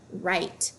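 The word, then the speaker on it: write: the K is silent W is silent when followed by our such as in the word right and the word right we hear the herb but we do not hear the whoop at the beginning G is silent when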